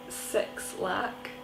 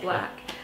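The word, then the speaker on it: 6lack: a lot of black it's about six lakh but it's pronounced black it's sort of RMB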